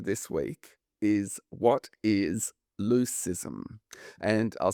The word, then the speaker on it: leucism: The quiz question for this week is, what is leucism? And I'll spell it.